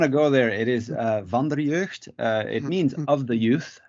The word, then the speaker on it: Vanderjeugd: is with the team sure and and proper pronunciation of your last name oh if you do want to go there it is Vonda reversed it means of the youth in you can